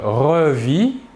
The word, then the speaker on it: revis: Je revis, tu revis, il ou elle ou on revit. Toujours la même chose, le S et le T final de la terminaison ne se prononcent pas mais s'écrivent.